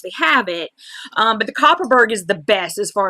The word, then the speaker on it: Kopparberg: Ask them if they have Copperberg. It's spelled Kopparberg.